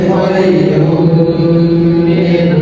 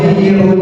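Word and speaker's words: خَيْرٌ مِنْ: Jadi bacanya bukan kirun bukan seperti itu.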